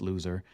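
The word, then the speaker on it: Luzer: he's a loser but his name is spelled l-u-z-e-r uh so it's pronounced loser um but I like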